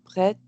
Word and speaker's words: prêt: prêt. C'est prêt. Exactement. Je n'étais pas sûr si tu avais prononcé le T ou pas, mais bien Non,